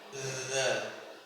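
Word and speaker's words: ذ: Karena sifat dari dza adalah yang artinya suaranya mengalir. Makhraj dari dza ng tempat keluarnya huruf dza itu ujung lidah menyentuh ujung gigi seri atas menyentuhnya sangat ringan, tidak terlalu ya tidak terlalu nempel sekali. Bukan dal bukan tapi dza dza dza benten nggih ee kita ulangi sekarang.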